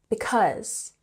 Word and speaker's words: because: So here we have because, and we have emphasis on the second syllable, because.